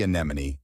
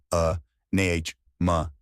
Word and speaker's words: anemone: Ah-neh-moan. Good. Now say it a little more naturally. Anemone. It starts with a soft sound, followed by a stressed NEH, like may, then a quick ma, and ends with nee, like knee.